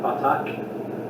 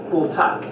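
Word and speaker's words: בָּטַח: It's not pronounced like that, batak. It's not Welsh. It's bultak.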